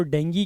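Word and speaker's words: dengue: ये जो शब्द है इसको डेंगू नहीं कहते, हिंदी में भले ही इसको डेंगू लिखते हो बट इसको इंग्लिश में डेंगी प्रोनाउंस किया जाता है। ठीक है, तो इसको हम डेंगी कहेंगे।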